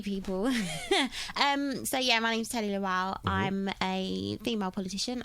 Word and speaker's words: Tele Lawal: She's a politician, a female, younger politician, goes by the name of Tele Lawal.